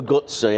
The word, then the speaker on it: Guzzi: Ducati and the motor gut say so you've got the best of both worlds and that's motor gutsy as I've been motor guts yeah as I've been told to pronounce it many times now by by viewers